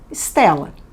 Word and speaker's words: Stella: Em latim se escreve com S no início e 2 L's e se fala Stella. Em português, escrevemos Estela com a letra E e um L e falamos Estela.